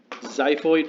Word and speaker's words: xiphoid: process or xiphoid tip xiphoid pronounced with a z spelled with an X considered part of your